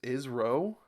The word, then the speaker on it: ISRO: I I don't know it's pronounced is SRO o like NASA two syllables ISRO ISRO ISRO keep on